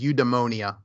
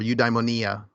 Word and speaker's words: eudaimonia: number of different places is eudaimonia or eudaimonia, depending on how you want to pronounce it.